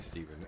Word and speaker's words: Stephen: And his real name is spelled the funny way, Steven.